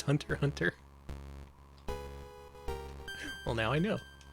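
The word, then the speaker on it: Hunter × Hunter: boys in the basement hunter hunter you don't pronounce it okay it's just hunter hunter well now i know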